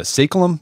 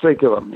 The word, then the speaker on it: saeculum: to 100 years, and you call it a saeculum? Is that how you pronounce it? Yeah, saeculum.